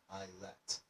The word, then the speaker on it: isle: So that's what we mean by an islet.